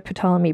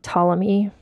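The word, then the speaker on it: Ptolemy: pamy brother um sorry tmy it's it's spelled with a p at the beginning so it's like pterodactyl and it's hard for me to not say the p t tomm me the 14th so she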